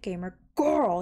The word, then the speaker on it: GamerGORL: used to pronounce it gamer girl you know put emphasis on the girl and i wasn't really